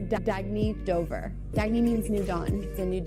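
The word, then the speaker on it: Dagne: good you can live life intentionally oh it's pronounced dagy do dagy means new dawn it's a new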